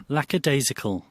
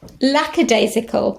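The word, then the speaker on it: lackadaisical: pronunciation let's just check that I do now pronounce it correctly lacad isical lacad isical lacad isical oh what a relief lacad isical I've got it right so there we have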